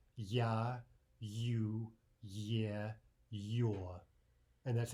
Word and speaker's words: Я: Let's begin with the letter that looks like a backwards capital R. That's the sound ya, ya.